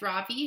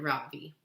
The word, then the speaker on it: Ravi: his hand up yes Ravi says mrs. beam I noticed she says his name correctly for the first time with the accent on the second syllable could you please tell